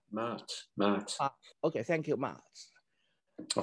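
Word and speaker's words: Ma'at: I don't know how it pronounced. Mart.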